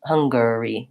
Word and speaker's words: Hungary: stress schwa huh mmm-hmm so the ng my own sound and then the G sound hunka so hyung I it's not an N it's an NG hunga hunga Hungary curry I think that's just a vowel or Hungary Hungary yeah I don't really say an A in there and yes many dictionaries will mark this Erlich Hungary Hungary as a vowel schwa and an R so you'll see it